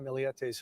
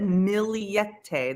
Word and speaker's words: Millete: warrant on the home see he said miliete that's how I've been pronouncing it and I and and